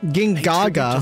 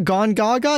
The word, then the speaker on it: Gongaga: Gingaga. Zack by exploring okay. His hometown. Wait, it's not Gongaga. It's Gingaga. This whole time I've been pronouncing it wrong.